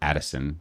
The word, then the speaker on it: Utterson: My favorite quote is when Utterson, or Addison, as it's pronounced in the audiobook, says, "If you shall be Mr.